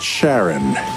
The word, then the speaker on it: Charon: coming up next more about Pluto's largest moon Charon David am i pronouncing that right Sharon yes yes thank you and New Horizons continuing